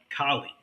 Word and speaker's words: Kali: main martial art called Kali. Now, it's not spelled like the city of Cali. is spelled ki k a l i k k a l i.